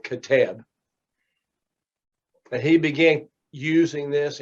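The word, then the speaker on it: Qeteb: but it's pronounced k-e-h-t-e-b with the emphasis on the last syllable catab but he began using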